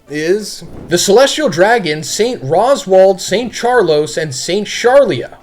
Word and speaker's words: Rosward: I don't know, it's like the whole Japanese thing with R's and L's. Sometimes the translation is L, sometimes it's R, and they can't really pronounce L's that well. But anyway, in case anyone was curious, Roswald is Rosward.